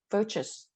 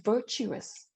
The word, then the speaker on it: virtuous: script here for example you say virtus but it's virtuous this word here where